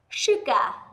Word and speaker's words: sugar: Sugar, sugar. Và sure, chúng ta thấy âm S mà đi với U thì cũng có thể được đọc là sh, sugar, sure.